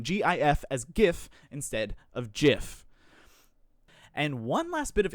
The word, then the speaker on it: GIF: the pronunciation of g typically if a word derives from german it's usually a hard g but if it is the latin or french derivative it's a soft g this adds to the assertion that jif uses the soft g sound because the word graphic